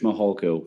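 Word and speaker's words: Mihalko: court reporter you bet my name is mahalko good morning I'm a commander with the El Paso County Sheriff's Office my last name is spelled m-i-h-a-l-k-o first name thank you Mr mohalcoat um you said that you're a commander with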